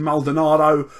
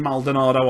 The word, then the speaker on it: Maldonado: catcher I will take Martin malardo uh Martin Maldonado I believe is how you actually say it if you want to pronounce correctly 2,800 for today he's